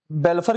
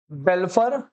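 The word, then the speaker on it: Balfour: उसे case law कहते बेलफर वैसे बेलफर की जो spelling F ओ यू आर है ठीक है बेलफर वर्सेस बेलफर बेलफर बनाम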